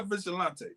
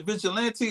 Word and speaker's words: vigilante: nine a vigilante huh is a vigilante or vigilante I've been saying the uh I've been saying his name wrong if that's the case is or vigilante we can ask him when he joins vigilante would make it sound French and a little better okay we could go